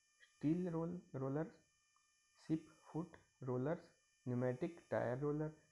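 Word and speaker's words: pneumatic: Rollers, ship foot rollers, न्यूमेटिक tyre roller, ये PNEU न्यूमेटिक, इसको न्यूमेटिक बोलते हैं, न्यूमेटिक टायर रोलर। ये प्न्यूमेटिक नहीं बोलते, इसको न्यूमेटिक टायर रोलर ही बोलते हैं। ओके, इसमें P साइलेंट होता है।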